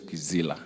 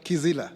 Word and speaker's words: Kizila: My name is Kizila. See, Priscilla, like you pronounced it last time. Kizila.